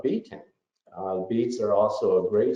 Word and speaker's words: betaine: out their stomachs so beets is where betaine was first discovered um and hence the pronunciation of betaine beets are also a